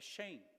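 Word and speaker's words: שם: No hebraico, a palavra nome é Shem, ou Shem, a pronúncia hebraica, que significa nome.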